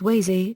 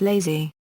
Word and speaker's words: Łazy: His name is pronounced as Wazy and not Lazy.